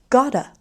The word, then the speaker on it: gotta: Then got to, we pronounce as gotta.